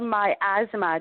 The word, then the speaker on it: miasma: So you said yes But you spoke about miasma.